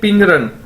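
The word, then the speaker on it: 病人: पिंग रन मतलब patient, इसे हम कैसे बोलेंगे? पिंग रन। चाइनीज के अंदर बी को हम पी के तौर पर प्रोनाउंस करते हैं।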